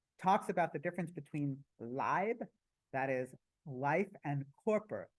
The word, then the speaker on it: Leib: So this failure to recognize I believe it's pronounced Leib. Leib, sorry. Leib. So Leib is German for life.